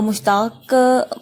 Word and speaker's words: مشتاق: کر تلفظ واضح کیجیے۔ تو مشتاق، مشتاق تو میم کے اوپر پیش، ٹھیک ہے۔ مدعا، مدعا میم